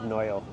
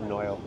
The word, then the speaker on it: Noio: Everyone I've talked to, which maybe, I don't know, the correct pronunciation is Noio. As far as like, everyone who's like fluent Hawaiian that I've talked to has said Noio.